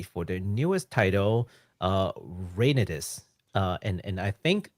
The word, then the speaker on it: Reynatis: their newest title uh rainis uh and and I think that's how it's pronounced u i just based it off of the Japanese pronunciation oh could you say